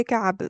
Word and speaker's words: كعب: كعب Ubay أبي ابن كعب ibn Kiba. Ibn كعب كعب. It's really difficult to pronounce Yeah, that. I know the عين you have a problem. All Yeah. of non-native speakers have problem with عين.